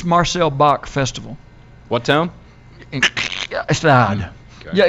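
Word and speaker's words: Gstaad: Stad. Okay. Yeah, it's kind of gutter. God. Wow. It's spelled G-S-T-A-D.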